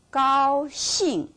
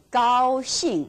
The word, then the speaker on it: 高兴: 老师 never change it 高兴 always 高兴 not 高兴高兴 it doesn't work so remember that now